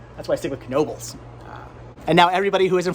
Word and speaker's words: Knoebels: And what is a Knoebels? Come to Pennsylvania, find out. They're pretty awesome. Why are you pronouncing that K? It's silent.